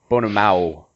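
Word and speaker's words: Bonemaw: I think that is pronounced Bonema? Bonema. Bonema. Sorry. Yeah, it's definitely Bonamao. So I want to touch on that a little bit.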